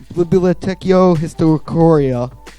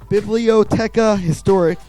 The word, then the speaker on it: Bibliotheca Historica: wrote and created the Bibliotheca Historicoria. Again, what's butchered that called name. again? Bibliotheca Historica. Bibliotheca sounds like French almost.